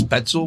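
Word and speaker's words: Spoetzl: So I think it's Spetzel Brewery. I'm not sure. I do think it's Spetzel, is it? Yes, that's how I Spetzel pronounce it, is Spetzel.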